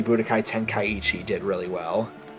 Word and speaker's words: Budokai Tenkaichi: done that style ever since Dragon Ball Z Budokai Tenkaichi did really well. How do you even say that name? Yeah, like Say how do you say that Budokai. without messing it up? Budokai Tenkaichi.